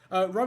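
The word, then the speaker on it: Roe: Ro is on the other side of this page. Ro, for those who are wondering, is spelled R-O-E.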